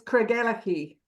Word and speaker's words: Craigellachie: pronounce that hotel? Oh, okay. Yes. Please, that's Vanessa. She's Scottish. Tell me. It's Craigellachie.